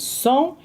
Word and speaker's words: sont: And over here we also say ils sont, elles sont. We don't pronounce the T.